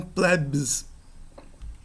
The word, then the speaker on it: plebs: A pronúncia desse BS em posição final é como se fosse um PS. Pleps, não, plebs.